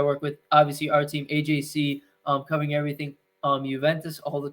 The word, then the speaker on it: Agyei: How do you pronounce your last name? It's AJ.